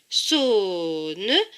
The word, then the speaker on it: sonnerie: Le E ne se prononce pas puisqu'il est écrit en bleu. Donc, ce mot se prononce sonnerie.